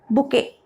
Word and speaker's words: bouquet: Bouquet. This is bouquet. Right? Here T sound will not come.